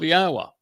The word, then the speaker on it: Yahweh: And therefore it tells us how to pronounce the first and last syllable of Yahwa. Yah and ah. The o sound comes from the wah.